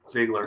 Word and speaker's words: Ziegler: Ziegler.